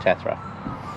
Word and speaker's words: Tathra: down the coast to tetra tathra hmm or tarther i think they pronounce it that's right tathra so yeah so we're